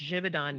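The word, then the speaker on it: Givaudan: you help me jivon it's Swiss it's jivon jivon divid on flavors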